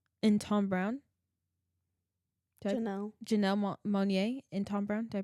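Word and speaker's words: Janelle Monáe: Um gosh, Jan Janella Monae and Tom Brown. Janelle Janelle Monet and Tom Brown. Did I pronounce that right?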